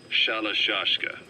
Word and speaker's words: Shalashka: The gorillas were using the name amongst themselves, and by the time I got to hearing about it, pronunciation had wound up as Shalashka.